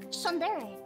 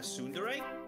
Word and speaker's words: tsundere: like her you're like you're just like sunderry uh tsundere no I'm I'm ignorant I can't pronounce things that's how you say that word I don't even know what that means people talk about it and chat I'm like you guys are I don't I don't know what that means I learned I learned but I used to call it sundeer because I didn't know how to pronounce it oh that's how